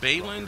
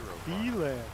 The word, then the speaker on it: Beeland: Alright, you say it, last name's Bayland? Is that how you pronounce it? Beeland.